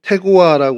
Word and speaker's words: 드고아: 저희들이 본문으로 읽었습니다 어 드고아 히브리어로 태고와 이제 발음을 하는 단어인데요 천막을 치다 뜻을 가지고